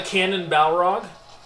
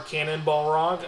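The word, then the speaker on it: Cannonbalrog: Oh, also we're fighting the cannon balrog or cannonball rog I I guess you would pronounce it cuz it's a cannonball.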